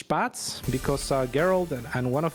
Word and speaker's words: Spatz: It's not Spatz, it's Spatz. Right, you gotta sound like you're expectorating as you say the name.